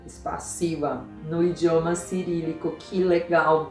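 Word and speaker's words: спасибо: Veja, Zeca, spassiva é como falamos a palavra spassivo.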